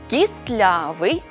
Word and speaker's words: кістлявий: слова-винятки які потрібно запам'ятати у цих словах винятках звук т у вимові зникає але на письмі зберігається можемо більшість із них запам'ятати за такими рухами створюйте за мною зап'ястний пестливий кістлявий хвастливий нарешті назбираємо 16